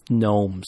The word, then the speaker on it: gnome: so many puns with gnomes. It was just awesome. So, if So you're are gonna, they gnomes or are they gnomes? they're gnomes. They're not gnomes. Gnome. The G is silent.